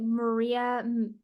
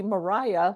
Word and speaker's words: Maria: I'm saying it right is it Maria Michelle I'm not sure yeah no this is actually Mariah like they call the wi Mariah Mariah Mitchell she was she was America's yeah Mariah Mitchell she was America's